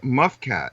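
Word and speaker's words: mfkzt: And the Egyptian word for it was muffcat. MF K ZT. Try and pronounce that. Muffcat.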